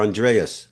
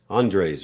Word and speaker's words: Andres: great thanks Richard of course okay Andre or Andreas Andre's right yeah it's right it's correct the pronunciation actually U that's what fine uh well